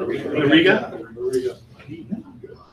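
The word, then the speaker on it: Auriga: This is in Ariga. Is that how you say it? Ariga.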